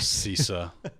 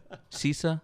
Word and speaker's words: CISA: i is this cisa do i say it like the like the comptia certification c-i-s-a i would assume it was sisa sisa yeah okay because if it was